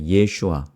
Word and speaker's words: 예슈아: 그래서 정확하게 이렇게 발음합니다. 예슈아라고 합니다. 예슈아.